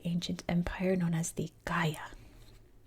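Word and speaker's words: Gaya: empire known as the Gaia. That's another sound in Korean that G and K that are different in English but the same in Korea. So it's the Gaia Ga.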